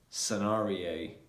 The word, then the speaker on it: scenario: better communication yeah so the letter c is normally going to be silent when it comes yeah when it comes after the letter s and before i e or y so for example